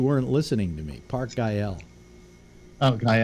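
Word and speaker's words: Güell: it but you weren't listening to me Park IL okay L yeah yeah that's how it's pronounced there's Harmon buildings there that he designed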